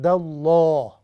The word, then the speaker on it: الله: Whenever you see fatha before Allah Ta'ala's name or dhamma, we pronounce it with a heavy sound. For example, he's going to be عِنْدَ اللَّهِ, no عِنْدَ اللَّهِ.